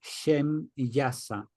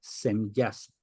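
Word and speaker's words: Shemyaza: en hebreo por tanto su pronunciación Sería más bien shem yasa y no sem yas luego tenemos que en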